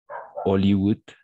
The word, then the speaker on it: Hollywood: ça les spoiler thriller en français est toujours muet donc on va prononcer ici par exemple Hollywood d'accord on va prononcer Hollywood on va prononcer de la même façon Hawaï d'accord Hawaï Hollywood bol